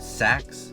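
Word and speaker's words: Sachs: And then let's say you went with Saks, I think that's how you say it, Saks, there's no J in there.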